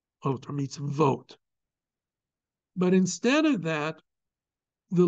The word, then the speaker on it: mitzvot: the plural form of mitz really should be spelled with two vs meets V or meets vote but instead of that the letter VAV with